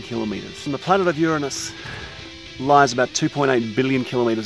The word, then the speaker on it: Uranus: It's the planet of Uranus, not Uranus. If you want to pronounce it correctly, it's actually Uranus, which is the only